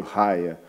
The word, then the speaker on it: Raia: A pronúncia é meio Raia.